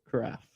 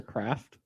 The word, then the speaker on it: carafe: Carafe. It's not just a craft of orange juice? No, it's carafe.